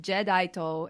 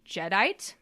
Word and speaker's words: Jadeite: So Jadeite is technically pronounced Jedaito in Japanese. In the Deke dub, his name is changed to Jedite.